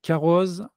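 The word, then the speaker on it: Carroz: début donc le sommet les caroses ça se prononce caros d'ailleurs je ne sais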